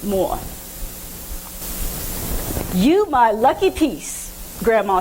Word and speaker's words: mor: know is that Rachel uses the word mom in Danish and it's pronounced more you my lucky piece